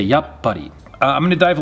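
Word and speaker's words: やっぱり: a pause there and we wouldn't actually pronounce the sound tsu but we just pause when we hit it so we don't say yatspari we say yup buddy i'm going to dive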